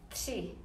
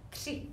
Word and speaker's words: tři: Tell me who of you practiced the pronunciation of number 3 in Czech. Tři. You can write the comment there. Tři, tři.